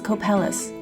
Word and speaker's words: Copalis: And one of the 3 tonight is Copalis. I just learned how to pronounce this word like 10 minutes ago and I'm trying to remember. I've also heard it pronounced as Copalis.